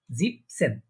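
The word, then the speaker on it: siebzehn: 7কে আমরা পড়েছি জিবেন, কিন্তু এখানে 7 আর জিবেন হয়নি। এখানে আমাদের বলার সুবিধার্থে, এটা প্রনাউন্সিয়েশন সুবিধার্থে এটা হয়ে যাবে জিপ, জিপ সেন, জিবেন সেন মানে অনেকটা দোনোটাই মানে শেষে এন এন হয়ে যাচ্ছে।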